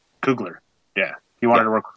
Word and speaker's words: Kugler: Kugler.